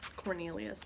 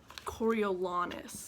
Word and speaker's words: Coriolanus: I keep calling him Cornelius, but that's not his name. It's Coriolanus.